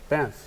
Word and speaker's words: Banff: Banff, yeah. B-A-M? Like, I know how it's spelled, but Yeah.